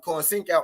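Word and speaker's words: Conceição: than oscar valdez but robson corn sink out ain't the name what's good ada sports talk rhymes with corn sink out ain't the name that oscar valdez is right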